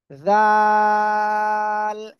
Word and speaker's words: ذ: আমি আগের থেকে বলবো না, আপনারা আপনাদের জিপার আগা এই সামনের উপরে দুই দাঁতের আগায় লাগান, লাগান লাগান, লাগিয়ে এখন উচ্চারণ করতে হবে জাল।